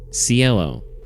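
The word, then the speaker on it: Cielo: Her name is Cello. Spanish word meaning sky or heaven. Sello. At least that's how Google says it's pronounced.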